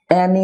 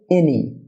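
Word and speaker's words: any: Dear viewer, অ্যানি না হয়ে হবে এনি, যেটাকে আমরা অ্যানি বলে থাকি, এনি, এনি।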